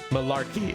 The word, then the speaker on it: malarkey: They say Malak. How do you say it then, Bakari? Malarkey, okay.